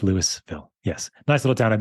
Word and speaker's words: Louisville: If you were in Kentucky, it would be pronounced Louisville. But here in Colorado, we say it like Americans, and it's Louisville.